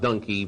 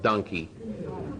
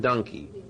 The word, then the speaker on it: donkey: at KABC explaining to me why it was not donkey but donkey, and with good examples, and they fully convinced me. People made lists of words where only the consonant was changed and they're pronounced differently. There was cough, slough, tough, and I realized they were right. So it's monkey and donkey.